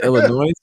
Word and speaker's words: Illinois: By the way, nobody pronounces the S. I was just about to say, when you said Illinois, it's Illinois.